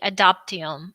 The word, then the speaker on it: Adoptium: Please, can you dwell upon on the adoptium? And do I pronounce it correctly? Maybe it should be pronounced. Yeah, no, you're pronouncing it correctly.